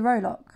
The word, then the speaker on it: rowlock: Closest to the rowlock, it's actually pronounced Rollock, was a dour old